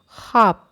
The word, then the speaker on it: خواب: جاتی ہے، جیسے لفظ خواب۔ بچوں، خواب میں واو لکھا جاتا ہے مگر پڑھا نہیں جاتا، تلفظ میں ہم اسے خواب پڑھتے ہیں۔ خوش، خوش،